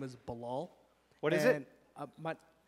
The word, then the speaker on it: Balal: myself to friends I say my name is balal what is it and my I say my name is balal balal but um so my cousin's over there